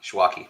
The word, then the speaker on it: Schwake: Schwaki. I messed that one up on our podcast too. Rhymes with hockey. Schwaki.